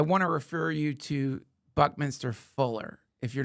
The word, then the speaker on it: Buckminster: Buck, not bunk. I said bunk, didn't I? Buckminster Fuller.